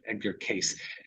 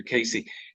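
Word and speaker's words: Cayce: at the time I didn't know how to pronounce his name, Casey, so I thought it was Case. So I used to call him Edgar Case.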